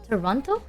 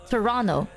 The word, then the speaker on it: Toronto: Don't pronounce the second T on Toronto. Toronto.